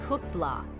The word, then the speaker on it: Kutla: the results weren't in introducing cut law pronounced cook blah a name that signified bubbles in Tlingit the language spoken by